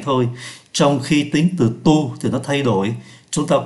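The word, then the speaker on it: toutes: nhiều là tu t như vậy là chúng ta thấy phát âm là tu t tu t tính từ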